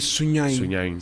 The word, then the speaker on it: Sunyani: So it's actually Sunyani is Sunyain.